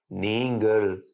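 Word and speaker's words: நீங்கள்: Je répète ningle. Dans le tamoule parler, la lettre L finale est muette. On prononce donc en Tamoule, on utilise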